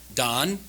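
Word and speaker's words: דן: So, the word for judge is dan. Don is how it's pronounced in Hebrew.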